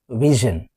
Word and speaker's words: vision: The next rule is, whenever a word is ending with SION, we will pronounce this as not shun, is zhun. For example, VISION, vision.